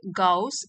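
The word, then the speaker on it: Gauss: इन द क्लास ऑफ गाउस and Euler. तो इनको pronounce करेंगे गाउस एंड ऑयलर।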